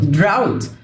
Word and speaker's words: drought: drought جو الاتش لا تنطق drought. يصنع او يبدع create.